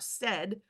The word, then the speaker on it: SED: you can remember that the S when when sounded out said rhymes with bed so you know that